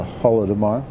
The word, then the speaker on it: Holodomor: 2012 to 2013, the 80th anniversary of the Holodomor. That's right. Did I pronounce that correctly?